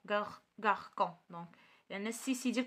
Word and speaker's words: garçon: Donc, بحال garçon راه كتقرا son ماشي con garçon.